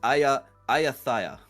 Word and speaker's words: Ayata: It's the one that we've been struggling to pronounce. It's the last time we have to say it. It is Ayata.